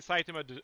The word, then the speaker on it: Saitama: So then okay, basically Saitama obliterates Vaccine Man.